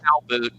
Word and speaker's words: Calbut: They pronounce it Calboot.